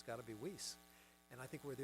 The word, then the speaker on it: Weiss: And by the way, my family pronounces our name Weiss, and we're probably the only ones that do. And the story is, when they came through Ellis Island 5 generations ago, they said, how do you say this in American? And they said, well, when there's two vowels together, the first one says its name.